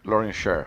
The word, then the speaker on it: Lawrence Sher: Now, Matteo, make sure I'm not mispronouncing it. Lawrence Sher. Lawrence Sher.